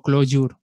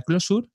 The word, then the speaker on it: Clojure: voy a decir bien siempre digo close your porque se escribe de esa manera y así se hace hay algún curioso que quiere buscarlo pues será más fácil pero se pronuncia closure uno para el desarrollo